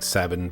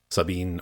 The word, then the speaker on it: Sabin: I'll be saying Sabin, by the way, because that's how I've always pronounced it. I should look up the Japanese pronunciation, or the Japanese written form at some point to determine if it's actually like Sabine or whatever, but I'm going to say Sabin because that's what I've always said, so that's my line in the sand.